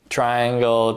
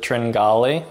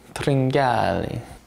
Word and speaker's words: Tringale: triangle trig nail trigonal you pronounce it tringali you should say it like an Italian tringali the name Cameron tringali